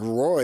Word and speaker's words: Roy: It's spelled R-O-Y. That looks like Roy to me. What do I know?